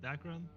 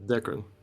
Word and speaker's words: Dekran: Dekran, you said that's how it's pronounced, not Dakran? Okay. Yeah, Dekran.